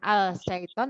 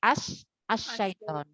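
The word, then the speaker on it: الشيطان: maksudnya alif lam syamsiah jadi bacanya langsung ke tasjid bukan al-sheikh Ton tapi Ashton aseton saiton artinya adalah syaiton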